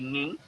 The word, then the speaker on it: Nginx: Meskipun cara pronunciation-nya agak beda-beda, banyak orang ngomongnya bukan Nginx tapi Nging.